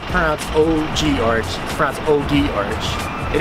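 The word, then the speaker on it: ogee: floral leaf patterns around an OG arch to mispronounces not pass oh gee arts from OD arch it isn't an original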